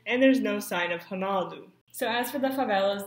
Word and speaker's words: Ronaldo: And though they do their best with the Portuguese pronunciation like Ronaldo and not saying it Ronaldo with the R sound, most of the actors